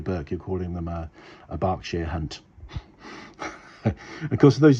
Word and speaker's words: Berkshire: Cockney rhyming slang was Berkshire Hunt. Now this gets a bit confusing because Burke and Bark sound differently, but Berkshire, which is where my family come from, is spelled B-E-R-K-S-H-I-R-E.